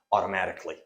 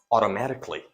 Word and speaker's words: automatically: actually it is pronounced automatically now the sound a is completely reduced it is silent it is not pronounced KY it is pronounced automatically automatically hey once your